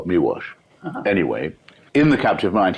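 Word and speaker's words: Miłosz: That's so you actually pronounce it's it's spelled mosh, but it's pronounced miwash.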